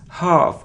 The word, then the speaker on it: half: it isn't Maskull no it's muscle we don't pronounce C must it isn't health not health it's half our if one sound our it's half it